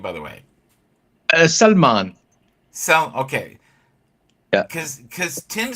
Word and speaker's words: Salmaan: How do you say it? Is there several ways? It's like I used to. no, it's just Salman.